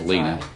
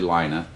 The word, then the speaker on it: Lina: for mispronouncing your name I thought it was Lena but it's actually Lina lots of other people